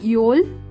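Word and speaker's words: Öl: योल, योल lamp, pronunciation योल होता है।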